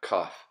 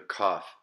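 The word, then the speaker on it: כ: With the Dagesh or the dot, it's just a K sound, K, Kof.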